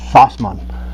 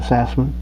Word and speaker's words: Sassman: It should be pronounced Sassman, but I go by Sassman.